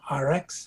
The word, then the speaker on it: ARIIX: Okay, the company is called RX, and it's called it's spelled ARIIX, and they are also the manufacturers of the Purity water system.